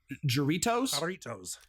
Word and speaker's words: Jarritos: It's made by, I don't know how to pronounce that. I apologize. Jarritos? Jarritos. Okay. Jarritos.